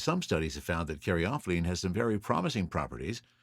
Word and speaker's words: caryophyllene: og shark and now i come to caryophyllene and i have also heard an alternate pronunciation of this so i'll throw that out as well and karyophiline so caryophylline or karyophylene either way it's best known for its spicy and peppery note i prefer caryophylline is found in black